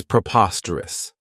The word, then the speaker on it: preposterous: I really like is preposterous this adjective has four syllables and the stress is on that second syllable Preposterous remember that OS has that schah that sound this means that something